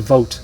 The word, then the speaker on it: Vogt: V-O-T-E is how it sounds like it's pronounced, even though it's spelled odd to me, but Knape Vogt is how I think it's pronounced.